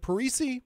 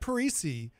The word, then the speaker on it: Parisi: Is it Parisi, Matt? Am I pronouncing that correctly? You got it. You're pronouncing it correctly. And Matt Parisi is the CEO, so